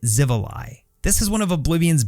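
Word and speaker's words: Xivilai: in the comments, but I think we pronounce it Zivi.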